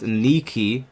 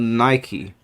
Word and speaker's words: Nike: It's pronounced Niki, not Nike.